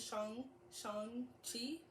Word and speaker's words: Shang-Chi: But, Sean, with like a G at the end, Shang-Chi.